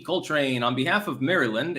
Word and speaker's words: Maryland: Coltrane, on behalf of Maryland, it's pronounced Maryland.